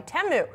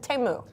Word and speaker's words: Temu: lawmakers are calling for an import ban on all goods sold by Temu.